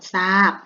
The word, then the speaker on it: ทราบ: ทหาร กับ ตัว รอ เรือ ออก เสียง เป็น ตัว ต่อ สู้ นะ คะ คำ นี้ อ่าน ว่า ซอ อา บอ ทราบ นะ คะ ต่อ ไป นะ คะ เหมือน เดิม